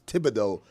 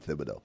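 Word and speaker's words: Thibodeaux: a th sound but it's a French name th is a t sound it's Tibido correctly uh correctly pronounced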